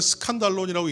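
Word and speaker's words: σκάνδαλον: 근데 이제 헬라어로 하면 스칸달론이라는 이제 원어를 씁니다. 영어로 했을 때 오늘날 스캔들 그러면 약간 좀 불명예스러운 그런 사건들을 얘기할 때 스캔들이라고 하죠. 그렇죠? 좋은 이야기가 아닙니다. 근데 원어로서 헬라어로 읽으면 스칸달론이라고 읽는데 이 말은 걸림이 되는 이야기,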